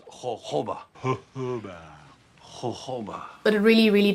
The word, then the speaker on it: jojoba: Guys, if you've watched Pink Panther, it's jojoba. It's spelled jojoba. It's pronounced jojoba.